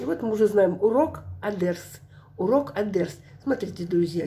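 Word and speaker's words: الدرس: Смотрите, друзья, здесь написано альдерс. Альдерс. Лим. Лим. Не читается здесь. Мы будем изучать, почему. Потому что дальше дель буквочка идет. Просто запомните, это солнечная буквочка. Перед солнечными не читается «эль».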